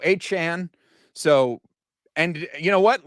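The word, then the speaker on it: Achane: changed how it's pronounced it's not pronounced a chain anymore it's now a Chan so and you know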